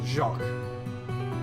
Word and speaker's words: Jacques: I think the S is silent, says Jacques.